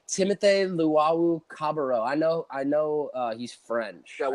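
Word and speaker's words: Luwawu-Cabarrot: Timothy Luwawu Cabarro.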